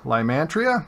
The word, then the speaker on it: Lymantria: Lymantria?